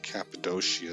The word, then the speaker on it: Cappadocia: Cappadocia is how we would pronounce it.